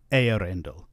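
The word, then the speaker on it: Eärendil: We see the two dots used a lot in the EA combination. It's a reminder again that this is not a diphthong, that the two letters should be pronounced separately, as separate syllables.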